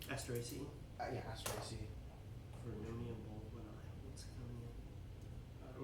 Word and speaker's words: Asteraceae: It's I forget how to pronounce that family name. Asteraceae? Yeah, Asteraceae.